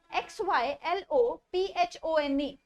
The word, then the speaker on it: xylophone: Now the other pronunciation is XYLOPHONE, it is xylophone. इसकी pronunciation z हो जाती है, xylophone.